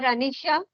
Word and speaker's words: Anisha: me something about you Anisha ji am I pronouncing your name correctly you are Anisha yes ma'am yes tell me something about you